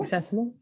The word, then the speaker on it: accessible: it access and accessible accessible that's one yet so we've got uh access on the first syllable and here it's on the second good lovely what else